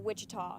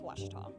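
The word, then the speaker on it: Ouachita: searching for Baptist University back in Texas everybody pronounces it witch but really it's wash wash wash how would you pronounce it was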